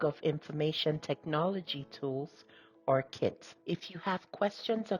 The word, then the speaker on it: CITT: The Catalog of Information Technology Tools, pronounced CITT, is a helpful directory